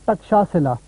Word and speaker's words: ٹکشا سلا: پڑھے لکھے لوگوں کی زبان پر اس کا تلفظ تھا ٹکشا سلا.